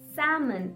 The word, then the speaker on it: salmon: follow the same rule you have to drop the l sound and try to say it salmon it's not salmon no it's salmon salmon wonderful now we'll